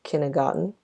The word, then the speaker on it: kindergarten: So even though it has a letter T in it, it's not pronounced kindergarten according to how it's spelled. Look, I don't know if you can hear it as I'm saying this right now. So I actually checked both the British and American pronunciations, which you can find on online dictionaries these days, and it's a pretty helpful tool to help you with your pronunciation. So it's kindergarten, not kindergarten.